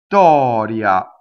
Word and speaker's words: Vittoria: So what happens is the vowel before is long, and then we stop phonation, we go up to a T, we don't say the T, and then we say the T that makes the double T, like this, see? So long vowel, V, stop phonation, V, go up to the T, don't say it, Vittoria.